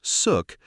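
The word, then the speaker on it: xuc: Born in the 1940s, the name suk, pronounced suk, comes from the quirky shook shook sound made by the clarinet in traditional folk music.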